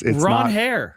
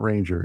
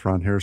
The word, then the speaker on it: Ranger: It's Ronher. Yep, it's not Ranger. It's Ronher Suarez.